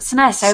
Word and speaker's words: SNES: They pronounce it SNES. SNES is canon. SNES is canon. Everybody else is like this alternative rebel without a cause thing. SNES is the canonical way to pronounce it.